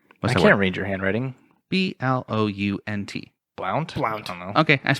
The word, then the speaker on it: Blount: and he died i can't read your handwriting b-l-o-u-n-t blount wow okay that's pronounced it right i was just making sure